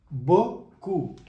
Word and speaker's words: beaucoup: In French, R, mer, merci, beaucoup. E-A-U is pronounced as O. O-U is pronounced as U. It becomes beaucoup.